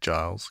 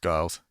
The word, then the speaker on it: Giles: found time for guiles i've been pronouncing it right giles giles g-i-l-e-s he would spend